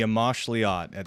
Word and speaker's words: Amoxliatl: The Amoxliatl. That's actually how you pronounce it.